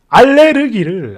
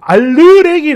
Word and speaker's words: 알레르기: 그렇게 했습니다 어 그니까 이건 마치 어 알레르기를 알르레기 아고 발음한 거랑 똑같은 건데 어이